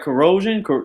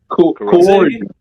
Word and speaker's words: coercion: Did I say it right? Corrosion. That's corrosion. That's like on the battery. What do you say? Coercion. Yeah. Coercion.